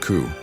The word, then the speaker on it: Shu: They speak of Shu pronounced coup, a high god who created the world and established its patterns.